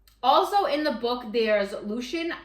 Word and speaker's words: Lucien: the book there's Lucian I call him Lucian but I think I saw a thing that said his supposed to be pronounced Lucien but I just from the beginning my brain said Lucian and so I can't unthink that so that's what I'm calling him so Lucian is